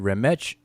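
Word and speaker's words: rmṯ: the glyphs themselves transliteration the way that egyptologists uh pronounce it rematch and who it represents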